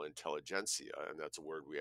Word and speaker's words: intelligentsia: The backwards R, now it's not like I know Cyrillic a lot, but the backwards R in Cyrillic is pronounced ia, so intelligentsia.